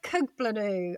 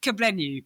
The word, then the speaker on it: Kugblenu: It is Athena Kuglanu. I hope I pronounced that right. It's a You know what? It's a silent G, which is so which is so cool.